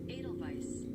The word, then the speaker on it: Edelweiss: Oh no, it shows it with a V. Edelweiss.